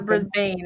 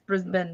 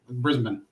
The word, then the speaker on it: Brisbane: I know I've heard it's not brisban it's brisban right right okay I was the one that was pronouncing that wrong every time every time I still I still fall back to it but I catch myself and then nope no Brisbane Brisbane what's cool is